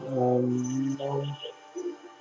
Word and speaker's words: gnome: This is gnome, gnomes, Gnome, gnome. G is silent.